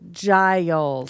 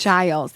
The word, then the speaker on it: Giles: So Giles. Giles, yes, as in giraffe.